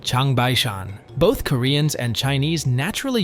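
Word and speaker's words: 长白山: In Chinese, Jangbaek-san is pronounced Changbai-shan.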